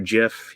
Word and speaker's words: GIF: a poll up later is it gif or jif he says it's jif but i say english gets away from the original creators of words and it should be gif but we can argue